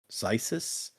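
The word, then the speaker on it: Xisis: And they're like, Brandon says it more like rhyming with crisis. So like Zesis, Zysis, something like that.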